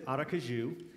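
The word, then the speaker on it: Aracaju: for their ministry in brazil and it says arakaju and you guys have probably heard that as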